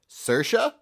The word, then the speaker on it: Saoirse: Irish went with huh Saoirse saoirse ronan you got Bob there you go rhymes with inertia just remember just rolls